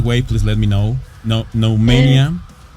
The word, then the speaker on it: Noumenia: No mania that's Nmania. Okay. Like uh demo candies.